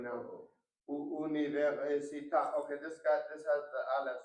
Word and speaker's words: università: With 5 syllables, we emphasize the middle syllable to get through that word.